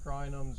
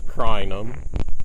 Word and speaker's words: Crinum: We talked about Gomphrena fireworks and all these different crinums.